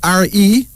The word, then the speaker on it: Re: It's spelled R-E, but it's pronounced Re. Also known as Ra.